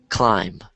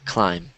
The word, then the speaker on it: climb: to can as well climb climb climb so notice how the B is silent climb climb climb climb wise